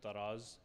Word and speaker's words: Taraz: Talas is a place that is now, or sometimes pronounced in some transliterations, is pronounced Taraz in Kazakhstan.